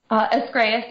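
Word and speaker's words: Ascraeus: Escreas Press. That's how I pronounce it.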